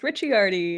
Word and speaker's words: Ricciardi: My last name is pronounced Ricciardi.